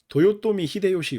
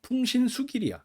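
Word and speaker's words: 豊臣秀吉: 여러분들은 누구로 알고 있나요 이름 어떻게 알고 있나요 도요토미 히데요시 렇게 알고 있죠 도요토미 히데요시 몰라요 처음 들었어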